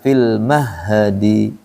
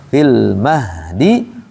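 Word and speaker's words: في المهد: mengalir berarti tidak boleh dibaca fil mahhadi mahdi harusnya fil mahdi wa kahla jadi tidak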